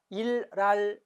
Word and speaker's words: 생일날: 4번 생일날, 일랄, 리을로 바뀌었죠, 그죠?